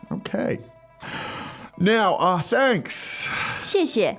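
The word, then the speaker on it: 谢谢: 谢谢，谢谢. 谢谢。 Now, you never just say 谢. I don't know why. You always double it in Chinese.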